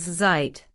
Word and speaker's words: Zeit: Z is pronounced like the sound at the end of cats. For example, time is said as zeit.